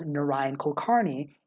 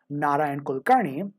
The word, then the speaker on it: Narayan Kulkarni: shows up, such as pronouncing my name by default as Nion Kolkarni in most English-speaking contexts, but encouraging those who are able to pronounce it more closely to the actual pronunciation of Naran Kulkarnney can build confidence in